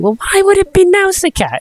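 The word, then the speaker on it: Nausicaä: I am 100% certain that's how you pronounce it, because it's like something from like the movie or the trailer just rings in my bell and just says Nausicaa.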